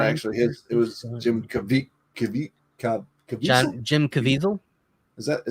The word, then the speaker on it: Caviezel: It was Jim Caviezel. Jim Caviezel. Is that how you say it? Caviezel.